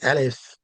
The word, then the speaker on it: Alif: And in English, we have the word aloof, see, carries the same almost pronunciation as Alif in Arabic, but in English, we say aloof, which means to be separated from each other, to Mhm.